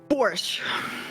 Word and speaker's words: borscht: Borscht. Okay. Borscht. I've always heard it. I don't think I've ever seen it spelled, so I had to make sure The that... T is silent.